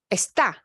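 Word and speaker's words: está: rule second to last esta yes see okay ah we do because it ends in a Bible but we punch we punch that last vowel so the verb esta gets an accent mark because it disobeys the rule it flies in the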